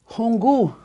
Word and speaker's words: hungu: But how about hungu. Hungu. See? Hungu. That has two of them, right? See, this has two U's. We've got two U's in this one.